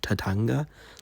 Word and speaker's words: Tatanga: But the villain of Super Mario Land is, I think, Tatanga.